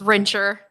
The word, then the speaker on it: Rincher: It's Rincher, so the H is silent.